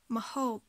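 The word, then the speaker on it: ម្ហូប: On a une première syllabe ici, mo, et la deuxième syllabe, hob, mahob. Ha, c'est une consonne forte et aussi une consonne de la série a, donc elle va garder sa série.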